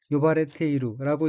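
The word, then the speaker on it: 呼ばれている: 넷째 줄의 어귀는 한자가 불을 호자이고 일본어로는 요바레테이루라고 읽으며 요바레테이루는 부르다는 뜻의 요부의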